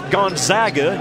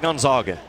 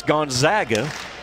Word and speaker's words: Gonzaga: It's Gonzaga. You and I have said it right all year long. It's not Gonzaga. It's Gonzaga, and it's Calipari, not Calipari. If you take nothing else